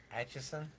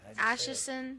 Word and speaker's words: Atchison: whatever it's in Kansas Atchison Atchison yes I can't talk I actually said I just said I just said asherson you say and HSN Atchison Kansas the Sally house